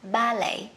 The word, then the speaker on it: ballet: Múa ba lê của mình sẽ là, với Anh sẽ đọc là ballet. Ballet. Còn người Mỹ sẽ đọc là ballet. Ballet, nhấn khác nhau các bạn nhé.